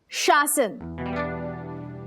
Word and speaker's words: शासन: नहीं नहीं, इट्स शासन। पहले श फिर स।